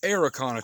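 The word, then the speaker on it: Araucana: from chile so down in chile they have arakana chickens a-r-a-u-c-a-n-a they brought them chickens up here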